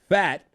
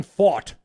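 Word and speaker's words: Pfaadt: hard name to pronounce Brandon fat or fight fought fought not fat he looks it looks like fat it's it's fought PF a DT was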